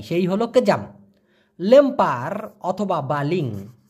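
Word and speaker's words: baling: হলো কেজাম লেম্পার অথবা বালিং বি এল আই আই এন জি বি এল আই এন জি বালিং উচ্চারণটা হবে বা লিং এই বালিং অথবা লেম্পার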